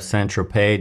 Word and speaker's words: Saint-Tropez: Saint-Tropez doesn't rhyme with Lopez.